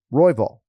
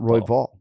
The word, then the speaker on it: Royval: of nicknames but no you gotta emphasize the first syllable here you know um royville not Roy Vault so that I don't